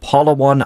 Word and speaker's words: Palawan: And in particular, Palawan Island. Do I have that pronunciation correct?